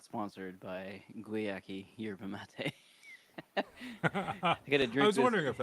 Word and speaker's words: yerba mate: Is that yerba mate or? Yerba Mate. Yeah. Yeah. Yerba you should be able to pronounce because the Yerba Buena I think is a place in California that like a Hmm.